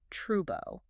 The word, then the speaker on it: trouble: Well, in a Cockney accent, the dark L often turns entirely into a vowel sound. So, a word like trouble is pronounced as trubo.